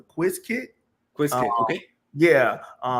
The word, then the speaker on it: Qiskit: I'm gonna pronounce it properly. The Quiz Kit.